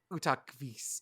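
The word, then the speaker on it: Utqiaġvik: It's Utakvis. I got to by the pronunciation.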